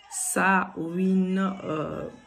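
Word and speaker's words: Samhain: payé sa 101 101 ce qui s'écrit avec samhd1 n 101 donc prononcé sa wind donc nous allons donc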